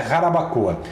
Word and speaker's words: Jarabacoa: Mas se escreve com J, né? Jarabacoa, tá? Que é na República Dominicana, mas é Jarabacoa.